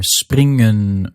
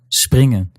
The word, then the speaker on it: springen: When that happens, the N in that last syllable, that N is silent. That gives you words like hersenen and springen, and even compound words where you get the unstressed N syllable in the middle, like fietsenrek. In these cases, you're not hearing hersenen or springen or fietsenrek, but rather hersenen, springen, and fietsenrek.